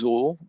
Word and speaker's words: XUL: if it says xul uh that's the zuul pronounced zul that is from the old staff client if